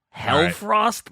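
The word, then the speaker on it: Hellfrost: love them love them hell Frost let's go dude I'm assuming uh I see the way it's spelled h l is that more like um hell yeah helheim right it's like the Norse underworld so hell Frost weapons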